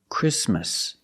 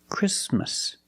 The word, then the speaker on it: Christmas: we don't say Christmas the t is between consonants so it is silent link the sound s with the m christm Christmas Christmas and it's not only